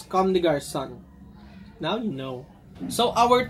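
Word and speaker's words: Comme des Garçons: this in size nine it's actually pronounces converse come to guard son now you know so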